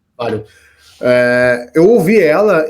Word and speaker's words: Valium: É Valium a pronúncia? Só me corrija. Isso, é Valium. Valium.